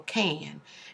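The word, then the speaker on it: Kane: my name is it's K and it's c a r r o l c a n e and the E is silent but I wanted to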